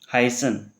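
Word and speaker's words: heißen: एच बोलते हैं, और इसकी साउंड हमारी कैसी आती है? सह सब्जी जैसी आती है। तो ये क्या हो जाएगा हमारे पास? हाइजन। हाइसन।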